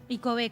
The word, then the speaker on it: Icob: icob o icob icob icob con tilde no no no lleva tilde porque bueno hicimos la búsqueda ahí de la palabra guaraní y no lleva tilde pero se pronuncia pero era icob está bien está bien